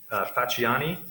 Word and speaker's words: Facciani: There's is a case called Facciani, I'm going to take that pronunciation of the C because it is out of Louisiana, and it's 297 SO3D